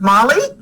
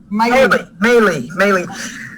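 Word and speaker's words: Maile: Senator Duckworth and her husband, Brian, are the proud parents of 2 daughters, Abigail and Molly. Did I say her name right? Maylee.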